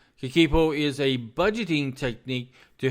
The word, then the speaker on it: Kakeibo: So as we study Babiko, and I might even be pronouncing that wrong. Let me go down and see how you actually pronounce it. Just un momento, por favor. Kakeibo. Kakeibo. Yeah, I'm saying it right.